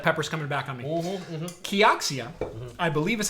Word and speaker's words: Kioxia: So have you ever heard of Kioxia?